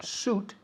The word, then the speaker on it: suit: Sweet es dulce, pero Okay. suit no se pronuncia la I latina. Se pronuncia como si no estuviera.